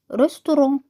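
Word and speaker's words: restaurant: بسيني سيني مطعم لو ريستورون ريستورون النادي لو كلاب كلاب الثلاثه دول يعتبر كتابتهم زي الانجليزي بالضبط بس الاختلاف في النطق السوق مارشي لو مارشي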